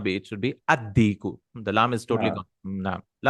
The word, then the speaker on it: الديك: Addiku, no? Lam sound should not.